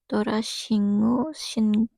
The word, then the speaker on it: Torashyngu: Cara bacanya Torashingu atau Shingu.